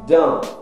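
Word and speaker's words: dans: Dan. Dan é dentro. Você não pronuncia a letra S, é dentro.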